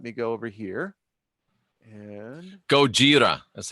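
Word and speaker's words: ゴジラ: Nexen and let me go over here yeah Gojira that's how it said Davy tells me telling me how to pronounce Japanese alright so here is the tsunami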